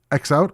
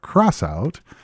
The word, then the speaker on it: X-Out: So next up is X-Out or Crossout. Looking online, apparently it actually has a couple different pronunciations.